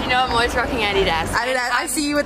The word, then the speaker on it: Adidas: And actually, we call it Adidas, but in America, you guys call it Adidas. Yeah, but Adidas is actually the correct way to say it, I feel like.